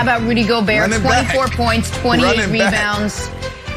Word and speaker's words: Gobert: to note fun fact in french rudy gobert is pronounced rudy gobert nick who we got